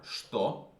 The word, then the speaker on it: что: Let's add these ones, which are что. This is ч, but you pronounce it sh.